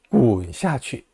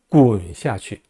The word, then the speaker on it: 滚下去: 滚下去, 滚下去라고 하면 됩니다. 복합 방향보어는요, 두 개 다 경성으로 발음해요. 滚을 제대로 발음하고 下去를 약하게 발음한다라는 얘기입니다. 滚下去, 滚下去라고 하지 마세요.